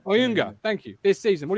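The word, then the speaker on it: Ayunga: I'm going to absolutely butcher the pronunciation, but thoughts on Jonah Younger. Oyunga, thank you.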